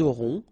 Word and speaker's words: auront: liaison here, vous aurez, ils auront, final T not pronounced, elles auront.